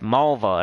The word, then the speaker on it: Malva: i just say like malva it's malva it rhymes with the woman's body part lucas says hi cindy